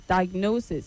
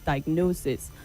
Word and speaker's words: diagnosis: The word is diagnosis. But I see that at the end. I think in your final stage, you finally got the pronunciation correctly. It's diagnosis and not whatever you were saying before.